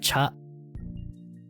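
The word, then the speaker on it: ちゃ: Similar to this is this is tia, right? Tia, but it's pronounced cha.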